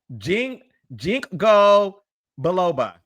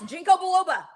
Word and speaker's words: Ginkgo biloba: But Alexis, it's called Ginkgo biloba. Yes, Ginkgo biloba. Yes, Ginkgo biloba. That's how you pronounce it.